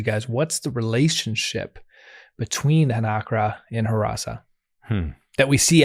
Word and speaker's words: hnakra: We're about to turn to the Hnakra, a shark-like Beautiful creature.